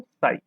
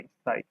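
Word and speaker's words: psi: साई। P silent होता है और साई लिख देते हैं, मतलब पी एस आई, साई।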